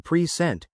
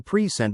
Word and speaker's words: present: But as a verb, to present, the stress shifts to the second syllable, present. Okay, I see. So, I received a present, versus, I will present my findings.